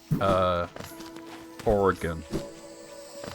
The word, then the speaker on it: Oregon: Nobody ever pulled you aside in school and said, well, look, this is how you say Oregon.